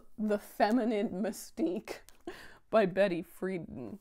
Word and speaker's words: Friedan: So this is The Feminine Mystique by Betty Friedan. Friedan? Friedan, I feel. I truly feel that is how it's going to be pronounced.